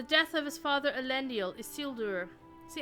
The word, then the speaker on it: Isildur: of his father alendal isildur see I keep saying is seeler like um like Hugo weaving did in the in the